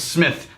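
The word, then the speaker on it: Psmith: always introduces himself is my name is Smith the P is silent and he's freakishly intelligent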